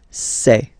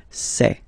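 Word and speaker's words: ces: And for the plural, c'est. Really open this c'est.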